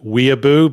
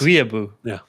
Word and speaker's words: weeaboo: Arrow 12 has just posted in the chat the word weeaboo, but it's spelled Ouiabeaux. And if that's an established term for French weeaboos, that's an excellent term. I love it. Weeaboo.